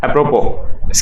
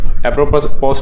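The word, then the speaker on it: apropos: एप्रोपो, इसका उच्चारण है एप्रोपो, ठीक है, एप्रोपोस नहीं है, एप्रोपो है।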